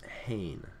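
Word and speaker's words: ἕν: And you pronounce this hain rather than ain, so it adds an H sound at the beginning.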